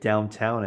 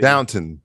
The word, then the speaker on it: Downton: anglophile i love british probably you're pronouncing it incorrectly and calling it downtown abbey downton down downtown that was